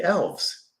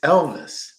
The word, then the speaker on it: Elvis: "Dad, when are we going to get to see the elves?" And I said, No, not elves. It's Elvis. "Oh, is this his house?"